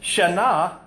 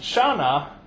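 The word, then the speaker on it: שנה: if you pronounce it shaah that means asleep if you pronounce it Shana that means change so what language was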